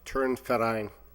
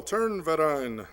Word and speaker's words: Turnverein: No, just to help you, it's pronounced Turnverein. Oh, Turnverein. Thank you. Is that the German? Yes, it is.